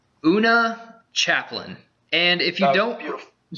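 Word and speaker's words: Oona Chaplin: Una Chaplin. And if you don't, beautiful. I'm pretty sure that's how you pronounce it.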